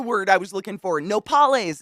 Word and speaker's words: nopales: Nopales. That's the word I was looking for. Nopales. Is that how you say it? Yes, nopales is the cooked cactus leaf.